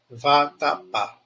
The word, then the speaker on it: vatapá: ent olha aí ó vatapá VAT vatapá pá é a sílaba tônica tá no degrau mais